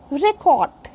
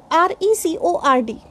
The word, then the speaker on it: record: But if I say record, then this is verb.